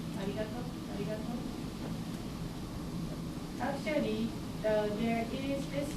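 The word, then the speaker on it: ありがとう: Let's talk about pronunciation of R. In Japanese, there is no R sound. Some people say it's arigato, by the way. Arigato, arigato, some people say that between L and R.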